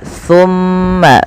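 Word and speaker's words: ثُمَّ: Pakai sa bukan pakai sin. Bagaimana sa itu? Sa adalah ujung lidah kita nempel dengan gigi seri sambil agak digigit dikit ya. Summa, summa, summa.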